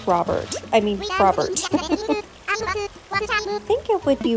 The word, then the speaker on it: Frobert: Is it Frobert or Frobert? I've heard both. But I would imagine it's supposed to rhyme with Robert, so I'm going to stick with Frobert.